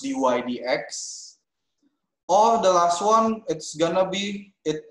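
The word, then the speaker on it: dy/dx: It's not a division. Not division. So it's pronounced dy dx.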